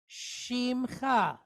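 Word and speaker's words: שמך: Then we have Chaf Sofit, and it's pointed with kamatz. So that gives us the sound Cha. So the word is Shimcha.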